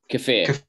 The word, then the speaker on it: kefir: a few weeks ago called uh is it keffer or kefir or how did you pronounce it dan kefir yeah fear so kefir um is is an